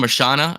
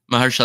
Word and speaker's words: Mahershala: How do you pronounce his first name? Marshana, I think that's how you pronounce it. Mahershala, there we go.